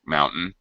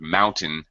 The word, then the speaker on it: mountain: mountains by the way pronunciation of mountain tim is a very reduced sound it's not mount ain mountain it's hmm just a quick schwa sound now what's missing here